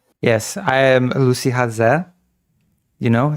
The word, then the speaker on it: Haze: I am Lucy Haz. You know it's pronounced haz. Many people pronounce it as Lucy Hayes, but it's actually Lucy Haz.